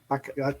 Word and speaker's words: Baquero: Did I mispronounce Baquero? Vanessa? Baquero. Yeah, that's right.